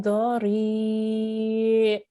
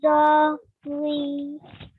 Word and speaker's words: ضريع: Ta'amun illa Min dari. min zari. Okay, so at the end we have ayn, right? So we have to make sure we make the ayn sound at the end as well.